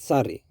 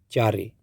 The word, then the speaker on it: cari: Maybe theyl call it sari or maybe theyl call it kari. The correct pronunciation is cari.